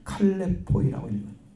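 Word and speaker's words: χαλεποί: 칼레포이라고 읽습니다. 칼레포이, 위협하는 때를 가리키는 거예요.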